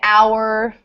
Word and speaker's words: hour: So words like hour, like the hour on the clock, and other silent H words will all have un before. Okay.